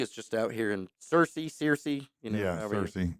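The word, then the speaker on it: Searcy: just out here in Cersei cersi you know cersi cers I'm getting the pronunciation down don't don't let anybody tell you it's cersi it's not also not canis right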